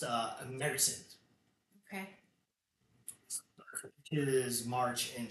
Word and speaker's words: Märzen: So originally, this style it's called Some people pronounce it Marzen, Marzen. And what is that? It's it's a style of beer, but it's pronounced Märzen.